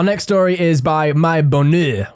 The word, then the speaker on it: Bonheur: Our next story is by My Bonheur, which is definitely meant to be pronounced in a French accent and no way else.